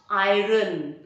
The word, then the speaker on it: iron: going to the premiere then you must iron your shirt not iron iron so you iron the shirt i am the uniform the r is silent but where is your